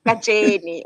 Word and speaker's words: Katjene: surname because I figured I pronounce it wrong. It's Katjene, yes. Katjene.